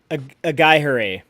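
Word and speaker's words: Aghayere: Ito Agaya? How do you say it, Fathery? Agayere.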